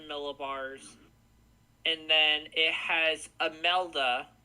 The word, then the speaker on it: Imelda: The icon has Humberto at 937 millibars, and then it has Imelda, is how I pronounce it, Imelda, at 958 millibars.